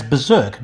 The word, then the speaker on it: berserk: simulation so for example we pronounce berserk as berserk dropping the first of two r's my guess is that